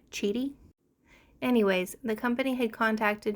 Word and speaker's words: QIDI: everybody is pronouncing this cheaty the Q is pronounced like a CH sound cheaty anyways the company had